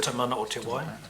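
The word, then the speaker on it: Te Mana o te Wai: Or Tamana o Te Wai.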